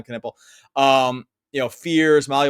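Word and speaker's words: Knueppel: then you have Trey Johnson like you have Khan nipple uh Canipple I said nipple but I he he was the one that said pronounced that well I'll say I'll say my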